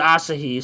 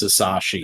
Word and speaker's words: Asahi: I've always just assumed it's Asashi, Yeah, but maybe the whatever.